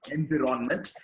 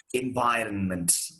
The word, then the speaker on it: environment: We know that it is not environment, it is environment.